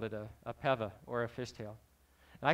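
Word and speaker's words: pewa: all and said that in the Hawaiian language, the W is pronounced as a V. So the correct pronunciation is Peva. I've heard Piva as well.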